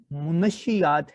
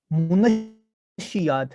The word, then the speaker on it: منشیات: آپ نے دیکھا کہ جہاں پر لفظ دراصل منشیات ہے، اس کا درست تلفظ منشیات ہے. ہم غلط العام بولتے ہیں یہ کہ منشیات، نیوز چینلز پہ اور ہر جگہ پہ یہ منشیات ہی بولا جاتا ہے، پڑھا بھی نہیں جاتا